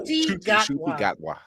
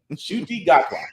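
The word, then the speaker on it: Ncuti Gatwa: And I've got to learn to pronounce that guy's name properly. Shuti Gatwa. Shuti Gatwa.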